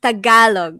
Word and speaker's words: Tagalog: do it zach okay the accident is um at the ga so it's tagalog not tagalog tagalog yeah i just